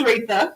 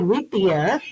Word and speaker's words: Retha: Because I know we say Retha. It is Retha. And when I look at it, it's like Rethia. It's pronounced different than it's spelled.